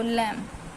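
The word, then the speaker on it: limb: जाता है कॉम ऐसे एल आई एम बी तो लम ठीक है तो हमारा इसमें बी हमारा साइलेंट लेटर था यदि बी के बाद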